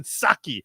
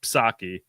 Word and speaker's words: Psaki: I always have said Psaki, but now I'm starting to think it's more like Psycho, like the silent P in Psycho.